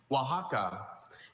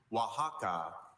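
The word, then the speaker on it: Oaxaca: Wajaka. Can you please repeat the word? Wajaka.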